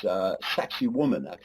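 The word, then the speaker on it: Sacsayhuamán: Sacsayhuaman is one way they pronounce it.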